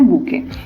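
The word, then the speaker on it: bouquet: एंड बुके बोला जाता है ऐसे। ठीक है, इसका प्रोनाउंसिएशन है बुके, और बुके भी बेचते हैं।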